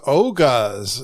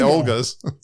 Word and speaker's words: Oga's: All right, you did you took the kids and the family to Oga's. You taught me how to say it. I used to say What did I say? Orga's? Olga's? I used to say Olga's.